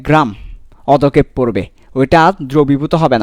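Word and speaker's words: অধঃক্ষেপ: আচ্ছা এটা সঠিক উচ্চারণ হবে অধক্ষেপ, অধক্ষেপ, অধক্ষেপ, ঠিক আছে?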